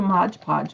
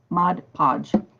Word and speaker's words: Mod Podge: print and i love to modge podge with it mod podge with it i've been saying it wrong for almost 50 years so last night